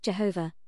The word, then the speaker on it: Jehovah: to the holy of holies were protected is pronounced Jehovah which means who is and who shall be